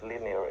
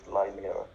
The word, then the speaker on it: linear: Oh, by the way, while I notice insignificant things, it's pronounced linear instead of linear, by the way.